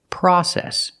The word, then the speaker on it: process: is pronounced in America we don't say process we say process use the short ah sound like hot and stop the open Sound ah pra process we say process in American English example learning a